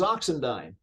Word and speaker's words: Oxendine: says excuse me says your last name is oxendine and I said yes it's funny you pronounced it correctly because most people it's usually